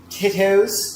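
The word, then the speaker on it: Tito's: Is there a special way to say that or is titos fine? Titos. Tito. Oh, it's like with a d. Yeah. Titos.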